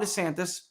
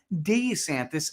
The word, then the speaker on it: DeSantis: days of his campaign DeSantis has gone back and forth between pronouncing his name de santis and DeSantis why it matters desantis's dissonance on how to say his name for years an issue